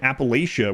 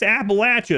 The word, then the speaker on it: Appalachia: like my mom, and we pronounced it Appalachia where I was. And I have people now, they're like, well, you obviously ain't from there because it's Appalachia.